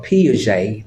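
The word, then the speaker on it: Piaget: John Claude vam or P J the t is silent p i a g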